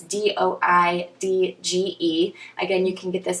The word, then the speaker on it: Doidge: I believe it's pronounced Dodge or Doige. It's Doidge.